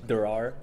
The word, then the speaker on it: Derrar: Derrar.